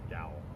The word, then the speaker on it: Yowell: Like towel, but with a Y. Yowell? Yowl.